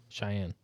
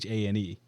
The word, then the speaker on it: Chane: Cheyenne. It's not Cheyenne. What it's is it? Chane.